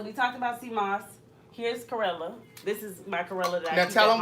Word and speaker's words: chlorella: ah yeah what is this thing this is karela chlorella I should have bought some when I